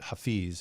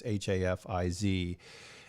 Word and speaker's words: Hafiz: is Hafiz, or sometimes people pronounce it Hafiz. It's Hafiz, and so Hafiz was very